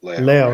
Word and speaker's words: Leo: Yeah, I gotta pronounce it like the Spanish way. I gotta say Leo. Leo.